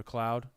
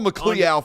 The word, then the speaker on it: McCloud: McCloud. I wish no ill will upon you. Call McLeoud for old time's sake. No. God. Jesus. That's That might be the worst one in history of name pronunciation.